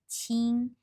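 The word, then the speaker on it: 清: sound of the character this character pronounce a CH it tell you the sound of this whole character so this character Ching you know there something to do with water and then pronounce as Ching meaning for clear so here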